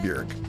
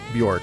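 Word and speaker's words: Björk: recently that it's pronounced Burke it like rhymes with jerk not Bjork rhymes with pork which is how I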